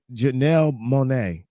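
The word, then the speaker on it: Janelle Monáe: then there's Janelle Monae Janelle mon Jan Janelle Janelle Monae my bad but anyways my thing is like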